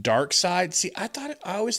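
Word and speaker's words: Darkseid: Well, it's pronounced dark side.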